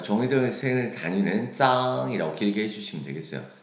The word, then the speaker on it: 张: 자, 그래서 짱이라고 발음하고요.